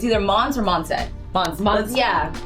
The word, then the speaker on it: Monse: Monse. Yeah. It's French. This is why we buy second hand cuz we can't pronounce it correctly.